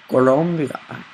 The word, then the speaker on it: Colombia: It's Colombian. Colombia. Okay. Colombia, that's how you say it. Columbia is the capital of South Carolina and unofficial redneck headquarters. Colombia is a country in La Sudamerica.